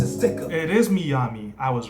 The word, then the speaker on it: Miyami: It might be Miami, but Miyami makes a little more sense to me because of the way it's spelled.